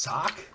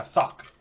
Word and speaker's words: Sauk: give me the drink that's how it's pronounced sock yeah sock s-a-u-k but in French so